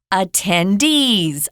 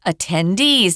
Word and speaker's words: attendees: And we pronounce this word attendees. Attendees, not attendees. Attendees, with the zhongyin on that D's.